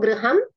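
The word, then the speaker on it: गृहम्: Ekam gruham, dve gruhe. Ekam yanam. One bus. One bus or vehicle. Eka prashna asti mahodaya. Pruchatu mahodaya. Last slide. So do you pronounce it as griham or gruham? Gruham.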